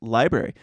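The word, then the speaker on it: LBRY: from a company called library pronounced library a co-founder on in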